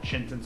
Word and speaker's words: Chintan: It's pronounced Chintan, so it's like Clinton with a chin.